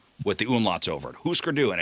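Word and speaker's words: Hüsker Dü: Husker Du. With or without the scooter stick. So Husker, H-U with the umlauts over it, S-K-E-R, and then space D-U with the umlauts over it. Husker Du, and it's my son Sam.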